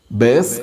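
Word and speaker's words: ܒܝܬ: താവിന് താഴെ അത് ഉച്ചാരണത്തിൽ മൃദുവാണെന്ന് സൂചിപ്പിക്കുന്ന കുത്തുമുണ്ട്. അങ്ങനെ ഈ വാക്ക് വായിക്കേണ്ടത് ബേസ് എന്നാണ്.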